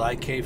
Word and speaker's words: ICAY: i've owned in this company my company's called ik freight that's spelled i-c-a-y freight and right now we're just